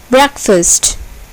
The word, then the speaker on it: breakfast: Breakfast. Breakfast. Here, the first syllable is accented.